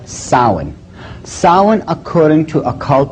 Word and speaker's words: Samhain: look at the name it looks as if it's saying Samhain or something like that no no no no this is properly pronounced and the ancient Gaelic as sowon sowon according to a